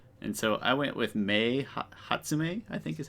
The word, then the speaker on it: Mei Hatsume: My Hero Academia, and so I went with Mei Hatsume, I think is how you say it.